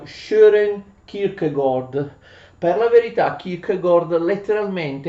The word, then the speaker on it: Søren Kierkegaard: conosco il danese qui dicono quelli che se ne intendono che quelle due a si leggono con una specie di o e insomma più o meno inglese il nome del nostro filosofo si pronuncia share e kirk gol per la verità kierkegaard